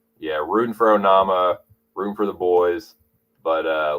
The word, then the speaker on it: Onama: Onama rhymes with Obama.